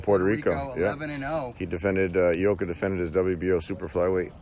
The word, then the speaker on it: Ioka: I used to call him Ioka, like Lee Iacocca. Remember Yeah. that guy, the car guy? Yeah. Oh, Ioka. But it's Ioka, and he beat Javier Centron, yep.